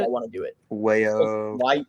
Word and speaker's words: Wajoo: Wayo. Wahoo? Wahoo? How do you pronounce it? Is it Wahoo? Wayo. Wajo or something? It's spelled like WAJOO.